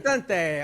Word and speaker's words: Lucente: to ask how to pronounce your last name Lucente Luc how you pronounce it you got it Lucente Lucente okay beautiful man you know we before the